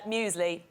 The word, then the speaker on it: muesli: There's like a pretend Y there.